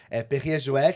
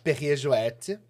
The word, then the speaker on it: Perrier-Jouët: Perrier Jouet. Sempre Jouet. no francês, quando tem a trema, a gente pronuncia a última letra.